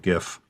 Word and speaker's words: GIF: trick i could just have a an animated gif uh and it is pronounced gif anyone who says it's pronounced jiff is obviously biased this could easily be animated